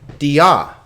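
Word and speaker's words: διά: Dia. Dia. Notice here that this is not a diphthong. Alpha iota is a diphthong. Iota alpha is not. So this is 2 separate syllables.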